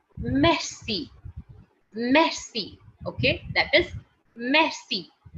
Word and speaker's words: merci: you next one is guys m-e-r-c-i okay m-e-r-c-a that is messy messy okay that is